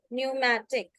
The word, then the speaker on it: pneumatic: like in the word pneumatic p is silent here and it can also